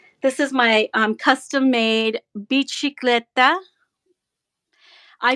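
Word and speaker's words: bicicletta: That's Italian. The C is pronounced chi. Bicicleta.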